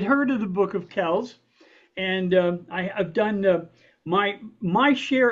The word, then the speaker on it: Kells: I want to introduce my friend Gerald Kells. Am I pronouncing that correctly, sir?